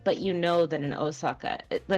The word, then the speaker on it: Osaka: usually it's an o o o but it's pronounced o I don't think I would ever spell Osaka with an o u it just seems weird